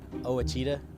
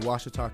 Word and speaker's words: Ouachita: I've heard people say Oita oh a Oita is it pronounced Oita searching for wasid Baptist University back in Texas everybody pronounces it witch but really it's wash was was how would you